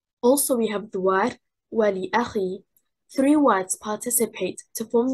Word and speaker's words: ولأخي: The stress is on حركة الواو and حركة الهمزة. The first and third حركة.